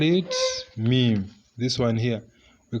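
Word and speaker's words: ميم: You're transliterating it like this, meme. So that is how we transliterate it. If you want to pronounce, follow that procedure.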